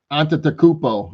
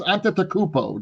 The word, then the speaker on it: Antetokounmpo: And I think Giannis Antetokounmpo. I can't believe I finally learned how to say his name. Giannis Antetokounmpo.